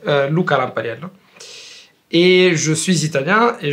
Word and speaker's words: Lampariello: suis Lucas Lucas lamparel avec la prononciation italienne c'est lampaliel et je suis italien